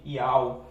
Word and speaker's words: Yauh: Então você não pode pronunciar, por exemplo, Iauá. Não, você tem que pronunciar Iau. Esse é a pronúncia exata do tetragrama, né?